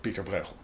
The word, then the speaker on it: Pieter Bruegel: about the background of Peterborough that by the way is the way I'm going to pronounce his name because that is the Dutch Flemish way of pronouncing it which let's be honest